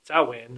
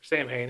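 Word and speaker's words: Samhain: What started this whole conspiracy or connection between Halloween and Sawin or Sam Hayne, however you want to pronounce it, was one guy named James Raven.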